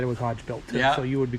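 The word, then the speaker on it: Hogebuilt: I say Hodge built that's that's how I pronounce it but I say hog built y everybody's got their own thing you know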